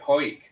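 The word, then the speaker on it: Hawick: Eric whole week hammock it's actually the locals pronounce it hoik oh God that's mental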